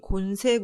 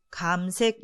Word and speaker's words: 감색: 고온으로 발음 되기 때문에 흔히 의 곤색 으로 알려져 있으나 이는 잘못된 표현이고 바로 입니다 가령 곤색 양복이 아니라 감색 양보 이라고 발음 하셔야 합니다 이어서 쭉 으로 짙게